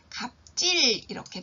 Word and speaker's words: 갑질: 행위 이것을 가리켜서 갑질이라고 이야기를 하는 거죠 그래서 발음은 갑질 이렇게 발음을 하게 됩니다 그래서 갑질이라는 말은 힘이 있는